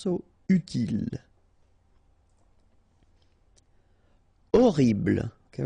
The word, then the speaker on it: horrible: Horrible. Okay, remember we don't pronounce H here. Horrible.